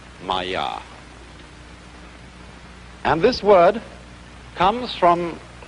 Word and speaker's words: Maya: this kind of thing is the Sanskrit term Maya I'm gonna write that down for you pronounced Maya and this word comes from a root in